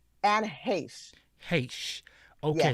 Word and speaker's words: Heche: So, how do you pronounce this woman's name? Anne Heche. Heche. Okay. Yeah, Heche.